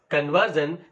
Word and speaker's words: conversion: as economic right conversion the word conversion there is a suffix called s i o n and the the syllable which precedes this s i o n is v e r and that's why you speak it as conversion right uh in the